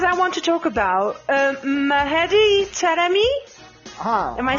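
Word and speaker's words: Mehdi Taremi: Because I want to talk about Mahedi Taremi.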